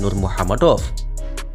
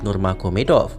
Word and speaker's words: Nurmagomedov: Kurang lebih mereka mengoreksi saya bahwa yang benar adalah Habib Nurma Gomedov. Well, saya mengerti tujuan teman-teman baik. Karena itu saya mengapresiasi perhatian teman-teman. Namun saya hanya ingin meluruskan bahwa nama Nurma Gomedov itu adalah ejaan bahasa Rusia dan semakin terkenal ketika